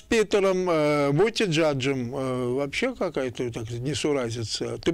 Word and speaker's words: Буттиджадж: Я правильно произношу его фамилию? Буттиджадж.